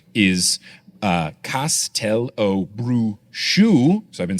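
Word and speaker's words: Castelobruxo: Now, this pronunciation apparently conforms to the original Brazilian Portuguese pronunciation.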